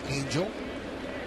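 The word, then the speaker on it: Engel: spelled e n g l but it is pronounced Angel want to go line drive a base hit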